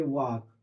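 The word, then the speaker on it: walk: टू, अब यहाँ लिखेंगे वॉक, प्रोनाउंसिएशन इसका वाक है ना, वॉक प्रॉपरली। चलो नेक्स्ट देखते हैं, 2 और बनवा देते हैं, इसके बाद एक्सरसाइज पूरी बनाइए अपने आप, है ना।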